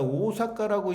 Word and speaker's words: 大阪: 이해가 됩니다 이런 것들이 아 근데이 대판을 갖다 오사카라고 일본에서는 발음을 해요 우린 대판이라고 하는데 그래서이 오온은 바로